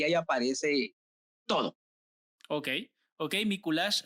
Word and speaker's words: Miculax: aparece todo ok ok míkulas se escribe m y c l x para los que no sepan s me kulaks digamos y se pronuncia míkulas si no estoy mal y así es nicolás